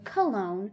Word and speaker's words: Cologne: favorite german city cone now you can pronounce this the german way cone or the english way cologne i always say clone